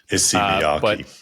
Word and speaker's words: Issey Miyake: I'm not even going to try to pronounce the name because I don't want to butcher it. ISSEY MIYAKE.